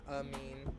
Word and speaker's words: amine: And the pronunciation is not super important, but ether and amine instead of amine. Amine. Amine. Amine. Like I gave someone a mean look.